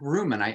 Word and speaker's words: Reuman: And today my guest is Patrick Reuman. I hope I pronounced your last name right.